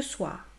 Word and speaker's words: soir: faux, c'est manger \mɑ̃.ʒe\ et nous avons le son \swa\ qui est suivi ici du son \ʁ\ ce soir \swaʁ\ donc là il faut que j'entende la lettre R \ʁ\ \ma\ \fa.mij\ \vjɛ̃\